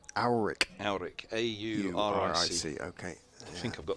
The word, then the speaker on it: Auric: Auric. Auric. Auric. A-U-R-I-C. Okay. I think I've got the pronunciation right.